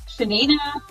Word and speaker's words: Yanina: pitch but I am my name is actually pronounced shenina and I'm actually from